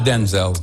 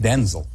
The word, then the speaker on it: Denzel: And uh before your there's a lot of Denzels now.